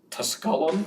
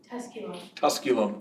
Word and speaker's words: Tusculum: she has her bachelor's degree in English from tuscallum college did I pronounce that correctly Tusculum College in Tennessee a master's degree in creative